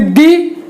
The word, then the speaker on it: the: आप जब चाहें तब देख सकते हैं। तो ये प्रोनाउंसिएशन की बात थी। यहाँ पर हमने प्रोनाउंसिएशन में आपको ये बताया कि दी इस शब्द को दी तब पढ़ेंगे जब वॉवेल स्टार्टिंग साउंड होगा, और द तब पढ़ेंगे